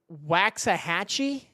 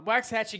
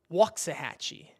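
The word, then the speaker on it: Waxahachie: Uh, waxi gets hit around one. I didn't say right again, but I don't know. Wal Hatchee. Okay. So, it's Waxahhatche. Okay. Okay, so it's a long A. Got it. Walksahhatchee.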